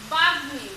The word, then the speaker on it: বাগ্মী: যেমন বাগ্মী, গয়ের সঙ্গে মটা যখন হচ্ছে তখন উচ্চারণ হচ্ছে বাগ্মী, অর্থাৎ বাগ্মী। খেয়াল করো এখানে কিন্তু ম ময়ের উচ্চারণটা হচ্ছে, এর আগে কিন্তু ময়ের উচ্চারণগুলো হয়নি। তো বাঘ মি।